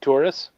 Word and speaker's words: Torres: I like to say his name as if it's tourist, and then just take the T off. Okay. Yeah. So it's Nick Torres.